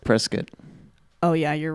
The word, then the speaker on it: Prescott: I think it's pronounced Prescott. Oh, yeah, you're right. Larry told me that last night. Shit. Sorry. Hey. Sorry, Arizonians. I corrected you. It's called Prescott.